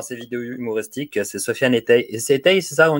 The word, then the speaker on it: Ettai: Non, en fait, faut juste prononcer toutes les lettres. Etaï, tout simplement. A-I à la fin. Etaï. Okay. Non, pas Etaï. Si tu veux vraiment le prononcer correctement. Etaï. Etaï. Etaï. Etaï, comme maïs ou je sais pas, tu vois.